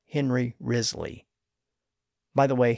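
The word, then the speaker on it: Wriothesley: of Southampton called Henry rizley by the way his surname isn't spelled like it sounds it's spelled wri IO t h s l y but he's generally known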